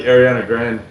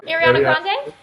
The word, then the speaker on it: Ariana Grande: lot of K Beck and still kicks like Arana Grand how do you say her name Ariana Grande yes we just saw her the mvas and